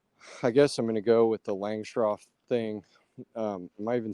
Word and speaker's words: Langstroth: Langstroth, yeah, I hear people butcher that all the time. They say Longstrom, Longstrath. Yeah. I think it's just Langstroth. That's how I say it.